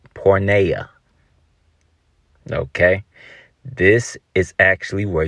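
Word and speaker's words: πορνεία: you say fornication in Greek you say is pronounced pornea okay this is actually where you get the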